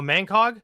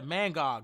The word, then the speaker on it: Mangog: Oh, Mangco. Yeah, Mangog.